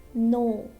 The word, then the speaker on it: know: So before N and at the beginning of the word. Okay, so this word is starting with letter K but before N. No, this K is silent. No is wrong, we'll say no.